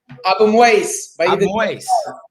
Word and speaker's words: Abuimweis: I got my good friend Jalal Abuimweis. Did I say it right? Abuimweis.